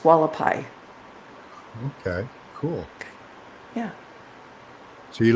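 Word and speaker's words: Hualapai: And that's pronounced Wallapai.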